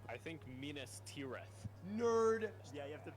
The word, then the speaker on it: Minas Tirith: It's Minas Tirith, and even he pronounced it wrong.